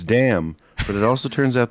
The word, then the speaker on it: Damm: one because I was curious if it was damn or Dom and it turns out it's damn but it also turns